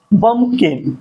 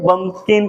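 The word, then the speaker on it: bumpkin: पंपकिन। इसमें P word हमारा क्या है? साइलेंट है। उसको हम क्या बोलते हैं? बमकिन कहते हैं।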